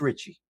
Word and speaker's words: Ricci: Okay, so it's either Ricci, you're going to say it in Italiano, or Ricky. I don't know how they're pronouncing it. It's Ricci. It's Ricci. Kind of, you can say it like that. If you show that name to an Italiano, they're going to say Ricci.